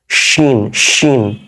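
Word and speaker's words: شين: এক নম্বর ক্লাসে দেখবেন এটা তালব্য স এর উচ্চারণ এটা দন্ত স এর উচ্চারণ দাঁতের নিচ থেকে এটা হবে যারা ইংরেজি ভালো বুঝেন তারা দেখবেন এই উচ্চারণটা হচ্ছে আপনার ওই পেলাটাল অংশ থেকে শিন শিন ঠিক আছে ভেতরের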